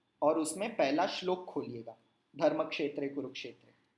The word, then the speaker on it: धर्मक्षेत्रे: का अंतर होना चाहिए धर्म क्षेत्रीय को रूप क्षेत्र वो गलत होगा सही उच्चारण क्या होगा धर्मक्षेत्रे कुरुक्षेत्र समवेता yuyutsav तो नोटिस कीजिए